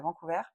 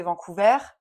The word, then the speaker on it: Vancouver: habitait en Colombie-Britannique, à Vancouver. ouais. À prononcer Vancouver, pas Vancouver, sinon tu te fais défoncer par les Québécois.